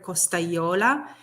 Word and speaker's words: Costagliola: would he or she would somewhat get stuck on the GLI so instead of Costa Yola he or she would say Costa and it was this